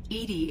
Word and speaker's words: EDI: why are you named Edie Edie is the phonetic pronunciation of EDI that is an acronym for enhanced defense intelligence how are you getting along with Joker mr.